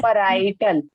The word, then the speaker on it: parietal: PAR parietal, parietal जी ऐसे बोलो parietal, parietal spelling नहीं बोलो parietal, right?